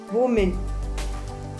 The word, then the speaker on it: women: WOMAN, women. So WOMEN is pronounced as women.